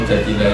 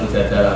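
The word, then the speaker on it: المجادلة: Memang Mujadilah itu beberapa ulama bacanya Mujadilah, perempuan yang mendebat Tuhan. Tapi ada ulama yang baca Mujadalah karena diambil makdarnya kan jadalah ijadilu mujadalatan.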